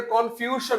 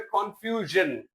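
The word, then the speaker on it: confusion: কনফিউশন, উচ্চারণটা কনফিউশন না, উচ্চারণ হবে কনফিউশন।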